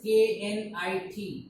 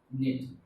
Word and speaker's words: knit: knit now what is k n i t nit k is silent we only pronounce knit knit this sweater sweater